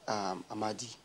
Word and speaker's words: Amadi: In the north, it's pronounced Amadi. Amadi. Amadi. Other people call it Amadi.